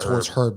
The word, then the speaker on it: Herb: no this is not it's herb jones it's herbs so the h is silent um ross chris young